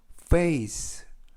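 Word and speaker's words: face: 말하기 에 대해서 알아보겠습니다 f 는 그 f 발음을 하실 때 위 치아로 아래 입술을 살짝 문 다음에 바람 빼 듯이 프 크크 그 a 는 a 쓰이는 쓸 그리고 맨 끝에 있는 알파벳 이는 발음 하지 않습니다 그래서 페이스 페이스 라고 발음합니다 뜻은 얼굴이 라는 뜻이구요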